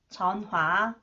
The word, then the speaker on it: 전화: But in reality, people may pronounce 히읗 weakly or not pronounce it. Both are used in reality. 은행, 은행, 은행, 은행, 은행. 전화, 전화, 전화, 전화.